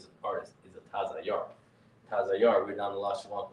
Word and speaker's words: Tazayar: Tazayar. Not Tazayar. Tazayar. Ta-za-yar. You have to pronounce the ta and the za individually, because otherwise you end up with taza-yar. That doesn't mean that doesn't mean artist, right?